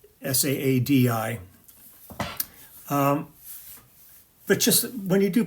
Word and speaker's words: Al-Saadi: I think he pronounces it Saadi, S-A-A-D-I.